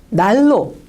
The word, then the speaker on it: 난로: 이럴 때는 어떻게 여러분 발음하시냐면 르르로 발음하는 경향이 있습니다. 신라처럼요. 자, 비슷한 예를 한번 볼게요. 자, 어때요? 난로.